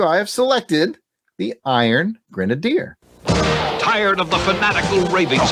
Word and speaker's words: Grenadier: out at marvel comics often mispronounced by pat as the iron grenader and yeah good that's the grenader all right i put grenadier in my uh that's